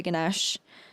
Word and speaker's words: Ganesh: So then Ganesh Puja, the ceremony begins with a prayer to Ganesh. I think that's how you pronounce it, Ganesh.